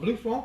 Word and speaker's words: Blaufränkisch: I haven't, but I haven't heard of Blaufränkisch either. Well, Blaufränkisch, some people call it Blue Franc because they can't pronounce the Blaufränkisch, but it's also a Limburger.